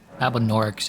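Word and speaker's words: Albinaurics: Albinorix is how you say it.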